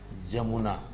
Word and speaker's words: यमुना: जैसे सपोज कीजिए य है तो य का उच्चारण हमको देखिएगा कि व्यंजन की तरह होगा। यमुना हो जाएगा जमुना।